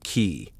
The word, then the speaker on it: qi: of harmony, the flow of energy, or qi, pronounced qi.